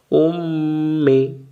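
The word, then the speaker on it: أُمِّي: হামজা পেশ উ, উ মিলবে মিমের সাথে, মিম জের মি, কি হইল? উম্মি। কাফ জবর কা, কি হইল? উম্মিকা।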